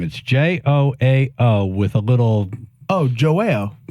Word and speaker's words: João: Joao with a little. Oh, Joao. Joao. It's a Portuguese name. I think you can also pronounce it like João.